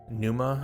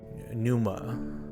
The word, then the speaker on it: pneuma: use uses no nanuma pneuma I guess it's called maybe the p is silent pneuma okay A versatile but